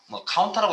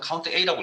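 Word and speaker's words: COUNTA: 카운터라고 읽는 분도 있고요. 저는 count A라고 읽겠습니다.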